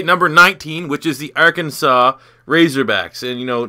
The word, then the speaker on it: Arkansas: doesn't understand your culture why Arkansas is not our Kansas you know that's another point for another day because it's spelled the exact same way as the state of Kansas but um what we're